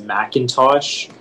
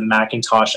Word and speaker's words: Macintosh: give you the information so the word is macintosh the word macintosh is a noun and it